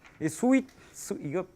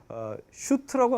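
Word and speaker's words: suite: 같은 것도 있고 이렇게 스윗 발음 잘 하세요 달달할 때 스윗하고 거기 비슷한 말입니다 달다 달다 스위트 알죠 이걸 갖다가 슈트라고 하면 완전히 요기고요 혹은 수트라고 하면 양복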